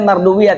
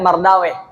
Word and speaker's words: Marduwiyah: Dibacanya Marduwiyah, tidak Mardaweh. Sebagian ulama mengatakan kata-kata weh itu adalah sebutan untuk setan, weh.